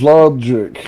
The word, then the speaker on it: Lawgik: By the way, my name's Logic, not to be pronounced Logic, because there ain't no thinking in here. It's just shooting. It's spelled Lawgik. Get it right. Never fail it once. Oh, then I actually did misspell it because I spelled it with a C.